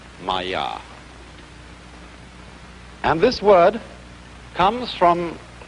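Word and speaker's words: माया: i'm going to write that down for you pronounced maya and this word comes from a root in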